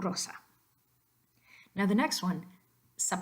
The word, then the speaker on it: Rosa: we already talked about don't let English getting your way with rose and you transfer it over to Rosa we want Rosa now the next one